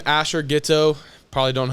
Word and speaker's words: Ghioto: It's just my name, Asher Ghetto. Probably don't know how to spell it.